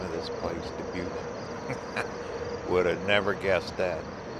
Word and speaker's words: Dubuque: I had to Google how to pronounce the name of this place, Dubuque.